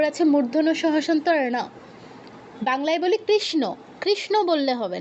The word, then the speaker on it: কৃষ্ণ: বাংলায় বলি কৃষ্ণ। কৃষ্ণ বললে হবে না। কারণ আছে মূর্ধন্য। আমি কৃষ্ণ বললে তো দন্তন্যর উচ্চারণ হচ্ছে। আপনারটা শুনেই যেন মানুষ বুঝতে পারে এখানে মূর্ধন্য আছে কৃষ্ণ কৃষ্ণ কৃষ্ণ এরকম বিষণ এরকম ঠিক আছে কৃষ্ণ